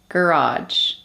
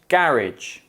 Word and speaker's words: garage: English and British English there is a tendency for lone words often from French to be stressed on the first syllable by Brits whereas Americans put the stress on the second syllable for example adult adult